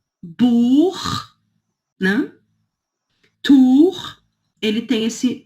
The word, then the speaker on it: Buch: Então, assim, depois, CH, que vem depois de A, O, U, Buch, né? Tur, ele tem esse som 2, que é aqui, né? Dor. Dor, Buch, Ach.